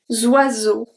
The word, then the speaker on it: oiseaux: end, besides the X, but we don't pronounce the X. Zoiseau, zoiseau.